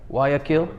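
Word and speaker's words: Guayaquil: I always saying they pronounce it with a W. Yeah. Wakil, but it's like it's in the back of the throat like Do you pronounce the L?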